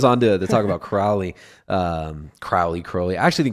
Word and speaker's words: Crowley: Also in 1914, Alistister Crowley rhymes with holy.